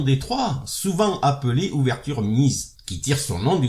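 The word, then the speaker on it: Mieses: trois souvent appelé ouverture mise qui tire son nom du grand maître d'échec allemand Jacques Nice il a été joué par Nice qu'on peut prononcer miette et d'autres joueurs de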